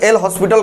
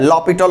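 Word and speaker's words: L'Hôpital: Actually एल हॉस्पिटल कहते हैं उसको, बोला एक्चुअली प्रोनाउंसिएशन उसका जो होता है लॉपिटल होता है।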